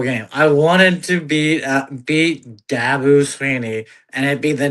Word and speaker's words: Dabo: I wanted to beat Dabo Sweeney, and it'd be the nail in the coffin in his career there at Clemson. I like how you say his name, Dabu. It's Dabo. You go Dabu.